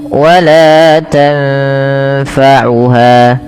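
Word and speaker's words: تنفعها: Tanfa, sukun bertemu fa, samarkan nunnya ketemu dengan huruf fa. Maka tanfa, tanfa tidak dijelaskan sebagaimana izhar, tidak dibaca wala tanfa'uha. Kadang-kadang sering terlupa, dia membacanya dengan izhar, tidak disamarkan, padahal dia harus didengungkan ya.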